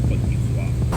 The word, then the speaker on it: Côte d'Ivoire: Yeah, in French it's Côte d'Ivoire.